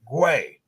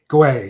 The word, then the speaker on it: Guay: had to ask him how do you say your last name and he said put a w in there and you'll figure it out guay guay yep and you've got